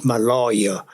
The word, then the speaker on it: Maloja: But when I arrived in Fremantle, I arrived on the SS Maloja, Maloja, it's pronounced Maloja.